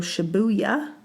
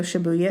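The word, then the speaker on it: Shibuya: going to stay at the Hyatt House Tokyo shabuya shabuya sounds fun to say am I saying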